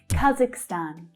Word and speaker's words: Kazakhstan: So the stress there is on the final syllable. And there's quite a few countries that end with this suffix stan. Okay, so you'll hear native English speakers pronouncing it either stan or stan.